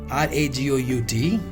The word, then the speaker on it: ragout: Next we have here is ragout, Ragout, and the pronunciation is ragout.